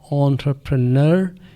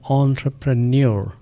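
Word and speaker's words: entrepreneur: Spelling शुरू हो रही है इ एंड से और इसका तलफुज है एंटरप्रेन्योर या एंटरप्रेन्योर।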